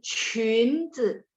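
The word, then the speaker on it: 裙子: 需要军人再来是裙子 Q bacanya CH ketemu yun, chun nada 2, 裙子 rok.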